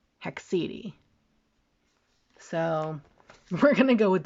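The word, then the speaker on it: haecceity: I looked it up according to Google it's pronounced hexedi so we're gonna go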